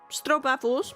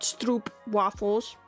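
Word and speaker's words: stroopwafel: If you want special stro waffles, not stroop waffles.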